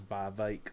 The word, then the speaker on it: Vivek: That's how that you actually pronounce his name is Vivek.